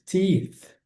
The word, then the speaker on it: teeth: banho, ele brushes his teeth. Muito cuidado com a pronúncia dessa palavra aqui. O th precisa colocar língua entre os dentes, soprando como uma vela de aniversário, conforme eu falo em toda santa aula.